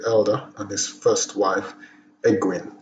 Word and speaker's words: Ecgwynn: and his first wife egwin ecwin is spelled w y double n sounds like a welsh name modern historians regard him